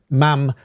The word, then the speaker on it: ma'am: And she preferred Your Majesty to begin with, and then ma'am after that. Ma'am rhyming with jam.